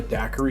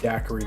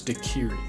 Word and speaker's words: daiquiri: Sweets at the time I had no idea what Daiquiri meant and we actually mispronounced it as dakiri he told me they